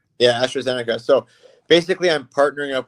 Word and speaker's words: AstraZeneca: is all about with AST uh let me pronounce that right astrazenica yeah astroica so basically I'm partnering up with astrazenica um